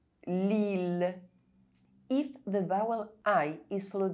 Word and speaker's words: Lille: I double L is only pronounced E if preceded by a consonant and followed by a vowel, except in ville, mille, tranquille, lille.